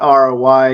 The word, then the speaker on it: rye: so ham on Ry not r y e well that's how it's spelled in the title but uh w y right so kind of a